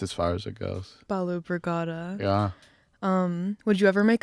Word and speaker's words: Balu Brigada: My name is Sema and I'm here in the KVRX library with Balu Brigada. I hope I'm pronouncing that right.